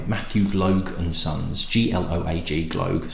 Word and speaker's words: Gloag: So, Famous Grouse, massively popular, was produced, first produced by Matthew Gloag and Sons, G-L-O-A-G, Gloag, so I'm pronouncing it Gloag. I don't think it's Gloag.